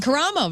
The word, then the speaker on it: Karamo: Karamo.